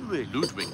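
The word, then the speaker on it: Ludwig: Ludwick that's the way Ludwick that's the way to pronounce it we met lud but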